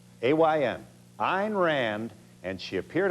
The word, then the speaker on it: Ayn: she was an sorry a rhymes with pine Ayn Ein Rand and she